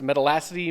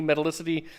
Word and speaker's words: metallicity: lot lower metallicity or you don't ever hear that word pronounced metal acity metallicity they have less metals